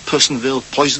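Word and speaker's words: Personville: Poisonville, as it's pronounced, described as an ugly town in an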